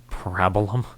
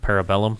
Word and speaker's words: Parabellum: people can say parabola Parabola yeah I've heard people pronounce it Parabola instead of Parabellum yes so um so